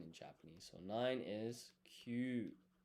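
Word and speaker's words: 九: So, nine is kyū. Pronounced kyū.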